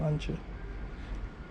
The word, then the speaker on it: Lancia: I think that's how you say it, isn't it? Lancia, rather than Lancia.